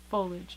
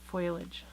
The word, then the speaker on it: foliage: foilage and this is folage foliage not foilage this is how I